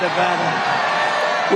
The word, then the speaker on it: Nevada: it correctly Nevada you got to call it Nevada with thousands of proud hardworking American Patriots and